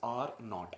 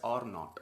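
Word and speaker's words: R₀: it is written as R 0 and is pronounced as are not I have done some Gerard here because I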